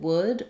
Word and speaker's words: would: about it is um first of all in wood make sure you're not trying to do the l sound the letter l is silent so you're saying that